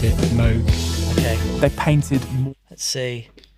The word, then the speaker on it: Moog: pronounced it Moog.